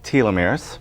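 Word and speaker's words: telomeres: of every chromosome is protected by caps called tieumirs tieumirs and there are special cells you may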